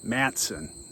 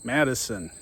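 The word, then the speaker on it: Matteson: If you listen to people who live around here, it's Matson. If you listen to the Chicago news or even communicates from the village, it's Madison.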